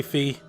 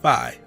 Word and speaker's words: Phi: pronounce it right phi i was so about to say fee but yeah it's phi all right whoa what's